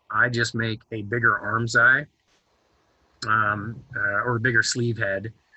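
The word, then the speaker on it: armscye: this construction so the arms eye is the hole and arms eye is like spelled a-r-m-s like c-y-e or something like that it's not spelled like like like your eyeball um so the arms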